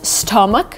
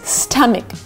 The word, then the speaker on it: stomach: next word is stomach a lot of people pronounce it as stomach which is not right it's stuck Mik stop Mik try to pronounce it with me stomach so it's gonna start with an a stop